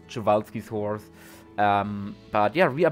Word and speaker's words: Przewalski: There are, I think, a dozen different pronunciations around out there. And yeah, the only correct one is Przewalski's horse.